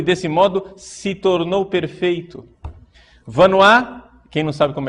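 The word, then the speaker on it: Vanhoye: Vanois, quem não sabe como é que escreve Vanois e quer anotar, né? Vanois se escreve V-A-N-H-O-Y-E. V-A-N-H-O-Y-E. Vanois.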